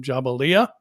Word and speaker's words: Jabalia: And forgive me if I pronounce this wrong, Jabalia.